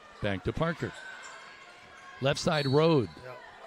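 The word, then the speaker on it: Rode: Parker Van Meter back to Parker left side road. I was informed that I had been mispronouncing that. It's R O D E. It's road.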